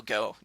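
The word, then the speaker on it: Gaux: And actually, this is their Gia Colonels. Oh, they is, spell it the Cajun way you spell go. Yeah. G-A-U-X. Go. Go.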